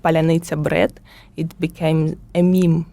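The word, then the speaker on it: паляниця: So if you are Russian speaking, you cannot pronounce the word palanitsa in correct way. They try to Google translate it, and we have the word polunitsa in Ukrainian, which is strawberry, not a bread.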